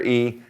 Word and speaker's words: y: minute, but in context, if you're reading, you see the letter Y, it's pronounced E also and it means and.